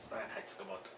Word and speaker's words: Reinheitsgebot: Reinheitsgebot. Yeah, good pronunciation.